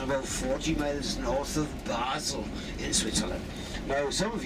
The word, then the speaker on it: Basel: those places and about 40 miles north of Basel in Switzerland. Now, some of you might know of Basel as Baal. But don't worry, both the same place. Baal is the French pronunciation and Basel the German.